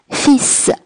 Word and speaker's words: fils: fils 在法语中是儿子的意思，并且呢这个 s 要发嘶的音，它的发音也比较的特殊。 fils 儿子。